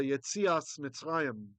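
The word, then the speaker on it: יציאת מצרים: Yetzia is Exodus, or famously the Yetzias Mitzrayim. That's the Ashkenazi pronunciation. Yetziat Mitzrayim, the going out of Egypt, the going out from Egypt.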